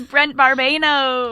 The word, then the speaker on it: Brent Barbano: It's Brent Barbano. Hello. Hey, did we you.